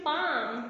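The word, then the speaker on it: palm: ठीक है, पाम, इसमें ल साउंड क्या होती है, दैट इज साइलेंट लेटर।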